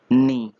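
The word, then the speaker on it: knee: email नीलमणि घुटने टेकना यहां पर के साइलेंट है दोनों में केयर जब हम इसको पढेंगे तो जोकर पेंशन होगा वह नहीं होगा कि एंड बोली तुम ही नहीं होगा नी है और ऐसे इसमें सेकंड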